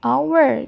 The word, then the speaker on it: hour: Kalau yang ini hanya tidak dibaca, jadi dimulai dari O. An hour jadinya. Bacanya adalah hour.